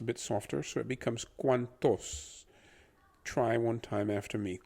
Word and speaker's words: cuantos: tos becomes toss like think of the word toast and just remove the t at the very end the only thing is that the t is pronounced a bit softer so it becomes cuantos try one time after